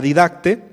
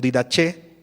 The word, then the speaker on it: Didache: Hay un documento que no es Biblia, es extrabíblico, se le llaman la Didacte o Didache, de acuerdo a la pronunciación.